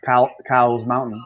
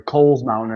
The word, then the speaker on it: Cowles Mountain: Hillbilly, yeah, I have this mountain next to me, Cowles Mountain, or Coles Mountain, it's actually called. Everyone calls it Cowles Mountain because it's spelled that way, C-O-W, Cowles Mountain. And but it's called the Coles Mountain, and it's the tallest mountain in San Diego.